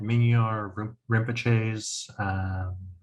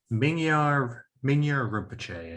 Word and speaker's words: Mingyur Rinpoche: I remember in have you read Mingyur Rinpoche's is it Dying to Live in Love with the World? No. He's a Tulku who like was trained from birth to be a really high meditator. Mingyur Rinpoche, I think, is how his name is pronounced.